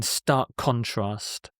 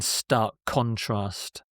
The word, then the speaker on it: stark contrast: They're joined in stark contrast, in stark contrast. So you often don't hear the K when it's pronounced at full speed.